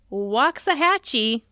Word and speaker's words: Waxahachie: and I had to look up how to pronounce the city name it's Waxahachie Texas okay it's a tough one to say